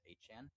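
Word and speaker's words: Etienne: um Trevor Han being Trevor or no Travis Han being Travis ETN, but he um hopefully told us that his last name is pronounced Hchan.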